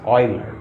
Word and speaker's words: Euler: So far I know, some people pronounce these names wrongly, although it looks like we should say Euler, but it's not Euler, it's Euler, O-I-L-E-R. Okay, just like that.